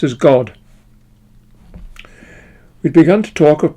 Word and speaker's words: GWAD: The head of her department was the internationally known GWA Dummer, known in the section as GWAD or pronounced as God.